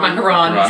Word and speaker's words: macaron: had a white maon macaron sorry i t pronounce that wrong a lot so macaroon is the coconut one I think I've even